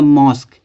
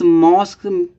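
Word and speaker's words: mosque: है य देखते हैं जैसे यहां दिया मस्क अब मस्क है ना इस मॉस्क के बाद क्या लगा दिया हमने क्य यूई लगा दिया ठीक है ये तो मस हुआ अब इसकी उच्चारण क्या निकल रहा देखो का निकल रहा तो हो जाएगा मस्क ठीक है इसी तरह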